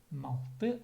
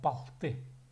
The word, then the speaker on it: палты: Но есть еще литературное слово палты. Обычно палты говорят. Малты это сагайский диалект. Ну, мы говорим так, малты сагайцы, но в литературе пишется палты. Палты.